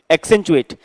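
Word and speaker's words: accentuate: To make something more noticeable, किसी चीज को ज्यादा नोटिसेबल बनाना, एक्सेंचुएट, ACCEN। अब आपको जैसे प्रोनाउंसिएशन क्लियर है तो आप इसको 2 पार्ट में कर सकते हैं, ACCEN एक्सेंट और TUATE एक्सेंचुएट।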